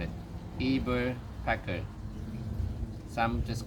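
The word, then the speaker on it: Eberspächer: the uh the brand this is how they pronounce it eber pecker some just call it a robusto heater this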